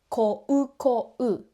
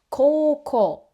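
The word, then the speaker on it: 高校: We just hold the o sounds longer and say o. For example, the high school is not pronounced as ko-u. We say ko-ko.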